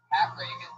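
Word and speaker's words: Pat Regan: That's spelled P-A-T-R-E-G-A-N. Not like Ronald Reagan. It's announced like Ronald Reagan. Pat Reagan, but there's no A in that.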